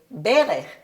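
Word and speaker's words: בֶּרֶךְ: The second word, same letters, but the first syllable is accented, so we say berech, which is a knee.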